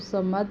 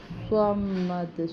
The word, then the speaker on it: صمد: پیچھے زبر ہے، اور اس کو سمد نہیں پڑھنا، صمد صاد پڑھنا ہے، اور دال پہ پھر